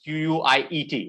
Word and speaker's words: quiet: intelligently quite here it's quiet and quiet is q-u-i-e-t okay is quiet that's how we pronounce it this one is pronounced as quite